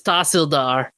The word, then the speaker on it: Tahsildar: Oh, it's not Tehsildar, it's Tahsildar. That's the pronunciation.